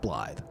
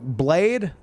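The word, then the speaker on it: Blaid: It's like, "Well, it's pronounced Bllythe." It's a cool name. It really is. But it'd get mispronounced constantly, at least in the US. Like, everyone would be like Blade, which I mean could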